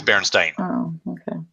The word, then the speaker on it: Berenstain: one is it yes it's Berenstain long I it's like you spelled with an A in stained Virgie bears a state